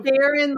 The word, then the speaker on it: Gerin: Gerin, like with the J.